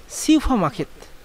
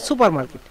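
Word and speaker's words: 슈퍼마켓: আর সিউফা, লক্ষ্য করুন এখানে হচ্ছে সিউ আছে, তারপরে ফ মার্কেট। অনেকে আবার উচ্চারণ করেন যে সুপার মার্কেট, সুপার মার্কেট মানে সুপার মার্কেট না, সেটা হচ্ছে সিউফা মার্কেট মানে সুপার মার্কেট।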